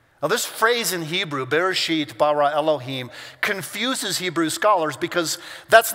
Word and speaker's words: Bereshit bara Elohim: It is Bereshit bara Elohim. That's how you say it in Hebrew.